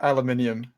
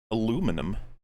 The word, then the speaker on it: aluminium: oh it's just like maybe an accent difference pronunciation difference you're like no no youed you changed it to be fair aluminium aluminum mean aluminum aluminium aluminium yeah it's aluminium nope